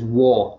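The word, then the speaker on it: Waugh: you pronounce it as wah w-a-u-g-h we pronounce it the g-h so it brings that out and flex through gets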